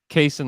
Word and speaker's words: Cason: the chances who cares just say Cason like Jason make him earn the